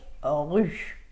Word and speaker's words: rue: ค ะ Par exemple, le mot rue s'écrit R-U-E et vous dites R-U sans prononcer le E. Rue. Vous dites pas rue, vous dites rue.